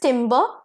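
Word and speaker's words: timbre: तो नेक्स्ट वड पेरस टिंबर same pronunciation एक में ई आर है दूसरे में आरई है तो ईआर वाला टिंबर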